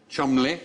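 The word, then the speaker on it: Cholmondeley: f Shaw yes did you know that was pronounced I CH Chumley the second one CH maning as in maning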